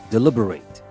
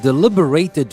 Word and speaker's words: deliberate: and by the way here i am saying deliberate not deliberate deliberate would be an adjective like when we say a deliberate action if you describe something